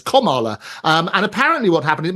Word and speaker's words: Kamala: It's actually Kamala, as in sort of comma, so like punctuation. So Kamala, as opposed to Kamala or Cami or anything like that sort of stuff.